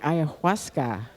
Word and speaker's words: ayahuasca: And you can ask more questions about the ayahuasca. Did I pronounce that correctly?